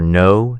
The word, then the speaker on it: know: Silent P for receipt, psychology, and silent K for know, knee, knife.